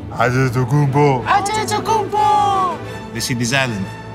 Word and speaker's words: Antetokounmpo: We're the only ones that can pronounce our last name. Antetokounmpo. Antetokounmpo. Antetokounmpo.